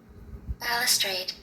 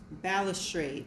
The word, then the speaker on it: balustrade: The first word is spelled Balustrade, and this is how it is pronounced. Balustrade. Balustrade.